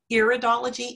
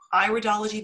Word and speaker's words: iridology: It's not iridology, it's iridology, because it's an iris we're looking at.